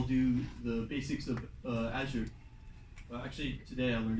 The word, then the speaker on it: Azure: after that i'll do the basics of uh azure uh actually today i learned it's not azure or uh azure it's it's azure that's the correct pronunciation it's kind of uh interesting anyways um